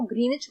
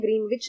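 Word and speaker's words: Greenwich: Indian standard time जो है वो ग्रीनिच मीन टाइम से 5 आवर्स 30 मिनट्स आगे चलता है। इसको ग्रीनिच कहते हैं, ग्रीनविच नहीं कहते हैं। इसमें W जो होता है वो साइलेंट होता है, ठीक है।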